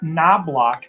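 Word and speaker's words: Knoblauch: got justin morneau chuck knoblock the k is silent byron buxton goose gosselin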